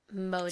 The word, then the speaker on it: Mojang: It's like a J and a Y combined. Mojang.